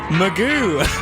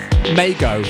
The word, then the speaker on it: Mago: be later be a guest mix from Mike Meo of Boom glitch records and I'll tell you